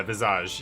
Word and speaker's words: Visage: The S is silent. Yeah, Visage.